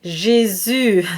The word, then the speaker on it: Jésus: So the U sound is an E sound that is rounded, and you really want to round your lips, and you want to feel the muscular tension in the lips. So you start with an E and you switch to the U.